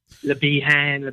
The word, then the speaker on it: Lebahan: Lebahan, yeah, he's French, so you have to make allowances.